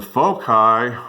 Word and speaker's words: foci: And the foci are, rhymes with loci, are 0, 5, and 0, negative 5.